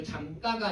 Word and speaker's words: 잠가: 그 다음에 자 3번 같은 경우에 대문을 잠가라고 했을 때 당연히 된소리로 발음하지 않아요. 그죠? 잠가가 아니라 잠가 이렇게 발음을 하는데 미음과 기억이 모두 하나의 형태수 안에 속해 있는 소리이기 때문이다.